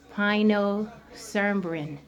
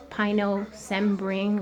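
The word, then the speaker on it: pinocembrin: And is the only food that we know that contains pinocerbin. So if I pronounce it wrong, Pino, C as in cat, EM, B as in boy, RIN. Pinocerbin or pinocerbin, an antioxidant.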